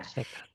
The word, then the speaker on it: Heka: La magia en Egipto es Heka, se pronuncia Heka, Checa.